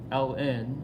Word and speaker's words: ln: of X okay so both are acceptable ways of pronouncing this Ln of X or natural log of X okay so taking your